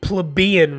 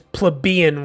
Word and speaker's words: plebeian: And I think that's actually pronounced plebeian roots, where it said wily political maneuvering or disdained his plebeian roots, not plebeian or plebeian like I had said.